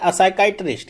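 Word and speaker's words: psychiatrist: एक तो आपने पढ़ा है टर्म क्या होता है, असाइकाइट्रिस्ट, यहाँ पे पी साइलेंट होता है।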